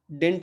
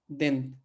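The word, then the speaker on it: dente: देंत, द, डेंट नहीं, ठीक है, देंत।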